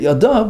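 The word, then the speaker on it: ידיו: Now it's spelled yud dalad vav, which could be read yadai singular one hand. Although we read it yadav, but it's spelled yadai, and that has hidden meaning to it.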